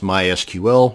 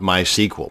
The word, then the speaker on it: MySQL: to create a mysql database and yes it's pronounced mysql not mysql so the next time you're at a dinner